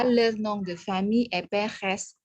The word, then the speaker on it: Perez: Ya, le nom de famille est Perez. S, vous prononcez S, S-nya dilafalkan, ya.